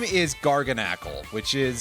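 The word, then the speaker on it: Garganacl: Anyway, uh, its normal name is Garganle, which is spelled G A R G A N A C L. So, like gargantuan and knackle for sodium chloride.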